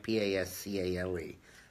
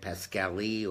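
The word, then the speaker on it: Pascale: P-A-S-C-A-L-E. Brad Pascali or Pascal. Depends on whether you're Italian or American.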